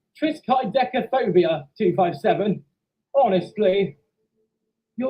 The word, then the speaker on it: triskaidekaphobia: conditioning to it Chris guys petticoda no it's pronounced triskaidekaphobia two five seven honestly you're all completely wrong